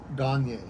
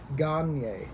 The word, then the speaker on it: Gagnier: here with Grandmaster Gagnier. Did I pronounce that right? I always feel like I butcher it. I'm not the shampoo. Yeah. It's Gagnier. Gagnier. Gagnier. Gagnier. Okay. Yeah. A little bit French.